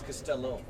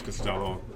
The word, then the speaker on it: Costello: It's Costello. I thought it was somebody spelled it wrong. Well, I have to respell it. I thought it was Costello. English, not Italian.